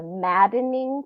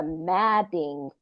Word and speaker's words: Madding: far from the Madden see I said it wrong I always thought for years it was far from the maddening crowd but it is far from the Madding Crowd and it's based on